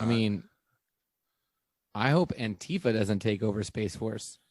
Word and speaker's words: antifa: just really mad at antifa for all the things they're doing lately i know i'll say space force i pronounce it antifa like aunt like she's your auntie i pronounced yeah she's